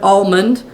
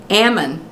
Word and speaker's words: almond: And he said, "You know, the correct pronunciation of the word almond," and John said, "Ammon." It's Ammon north of Sacramento and Almond south of Sacramento.